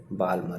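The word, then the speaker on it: Balmer: एक आपको पढ़ना है बामर सीरीज, बामर BAL, उसमें L साइलेंट रहेगा, बालमर, है ना, बामर।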